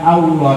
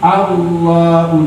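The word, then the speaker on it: الله: tapi allohu akbar allohu allohu bukan Allah tapi allohu allohu akbar Hai ucapan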